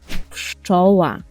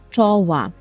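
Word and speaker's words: pszczoła: це пщоова чова і тут Зверніть увагу на написання я завжди кажу своїм студентам що коли ми чуємо ш кш ш так то 99,9% ми повинні записувати прз трз крз так але у слові чова - це виняткове слово записуємо ПЗ чова чова наступне слово маупа у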